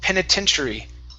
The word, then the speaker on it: penitentiary: It's penitentiary. Okay, so that T at the very end, we're going to treat this like a CH, penitentiary.